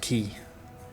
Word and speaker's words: Quay: So, the Quay is pronounced Key. Proof is here. They actually pronounce it as Key.